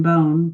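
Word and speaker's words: Beaune: Bones. We are planning a trip to Paris, then Bone, pronounced Bone, my mother and I.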